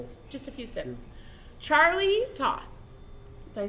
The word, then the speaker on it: Charlie Toth: Charlie Toth.